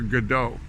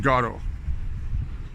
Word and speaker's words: Godot: and at university and everybody that I know pronounces Samuel Beckett's play as Waiting for Godot not doddle now maybe when he's